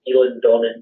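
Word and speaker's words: Eilean Donan: of Scotland to visit things such as, it's pronounced Elan Donnan Castle.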